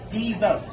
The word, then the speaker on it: Divo: given me is it it's it's it's devote right d vote say my name d oh i was thinking it was like davao like you're gonna go